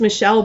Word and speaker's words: Michael: Her name is Michelle, but I remember like in reality, she told me her name is Michelle, but it's spelled exactly like Michael.